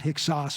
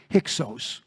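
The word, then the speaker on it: Hyksos: we call them the it's actually it's a long o not hickos but hixos and that's the egyptian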